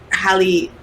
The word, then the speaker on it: Halle: I think they're gonna do like the iconic scenes, like there's a scene where Halle, I think that's how you say her name, Halle Bailey.